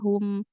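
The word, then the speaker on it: هُمْ: Ah ya hum, sama di kata hum juga gitu. Hu-nya maju bibir kita. Kemudian masuk ke mim sukunya hum.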